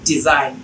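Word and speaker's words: design: তাহলে আইজিএন থাকলে জিটা সাইলেন্ট থাকবে। রিজাইন, ডিজাইন, ফরেন, সাইন etcetera.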